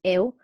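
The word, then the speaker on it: 일: yeah yeah it's pronounced it's like work but it's pronounced ill like sick so it's like a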